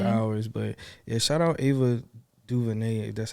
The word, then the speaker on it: Ava DuVernay: through a few hours but yeah shout out ava duvernay that's how you say her name like she